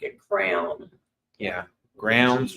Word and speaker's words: Growns: pronouncing it correctly it's grounds like a crown yeah grounds rhymes with crowns yeah I don't want